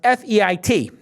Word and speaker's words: Feit: and you can follow Ryan Feit, but it's pronounced F-E-I-T, Feit.